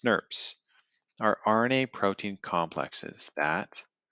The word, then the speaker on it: snRNPs: nucleo nuclear ribonucleoproteins called snrnps pronounced snerps our RNA protein complexes